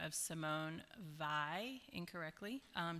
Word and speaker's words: Weil: Uh I will acknowledge that I was saying the name of Simone Vi incorrectly. Um she is not German, she's French, but um I just looked it up this morning and it's pronounced by.